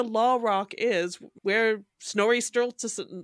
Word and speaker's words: Sturluson: So literally, like, where the Law Rock is, where Snorri Sturluson, I can't pronounce his name properly. I say Sturluson, but that's wrong, right? Sturluson.